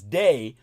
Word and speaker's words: Dei: for the DEI programs, which are pronounced most properly as day the very Latin name of God.